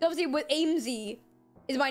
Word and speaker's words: Aimsey: okay just made me giggle it's obviously with aimsy is my name but obviously when you if